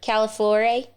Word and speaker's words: Calafiore: Calafiore.